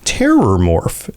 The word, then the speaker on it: Terrormorph: of people do but it's actually Terror morph and yeah I mean